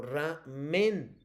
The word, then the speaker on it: ramen: Ramen, ¿dónde lleva? Te lo pronuncio. ¿Ramen o ramen? En la A, En la A, vamos a ver. Exacto, en ramen.